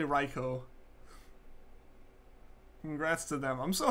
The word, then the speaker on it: Raikou: here with your losses it is and always will be raikou agreed agreed like it's definitely raikou Congrats to them I'm